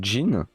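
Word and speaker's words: 人: Et en fait, le Jin, c'est aussi, que je le fasse bien, le kanji de Hito. Sauf là, on le prononce comme ça.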